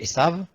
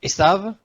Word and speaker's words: Esav: Ésaü, prenons Ésaü, en fait on dit Ésaü, mais en réalité s'il fallait traduire, s'il fallait le prononcer tel que c'est écrit en hébreu, c'est Esav. Donc Esav, voilà.